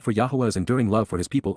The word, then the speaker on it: Yahweh: time when this started and from the first Yahweh Yahweh the proper pronunciation of yhwh spoke communicating Dabber verbally expressed